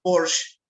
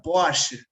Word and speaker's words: Porsche: Y y otra sería pues no el caso de Porsche, que nosotros decíamos el la marca Porsche o Porsche. Claro. Pero en Alemania se pronuncia poch se cambia por A.